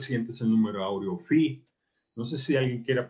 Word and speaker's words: phi: El número áureo o número phi se pronuncia phi y así se pone con PHI.